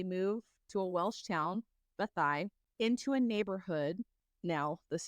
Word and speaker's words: Beddau: It is spelled Beddau, and it is pronounced Bethai.